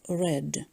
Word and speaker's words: read: and as infinitive but in sentences B and D they refer to the past so we should pronounce red the spelling is the same but pronunciation is different for more meanings and